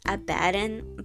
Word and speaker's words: Abbidon: I actually pronounce his name as Abadin, but I think that might trigger some people, so I'll refer to him as Abby.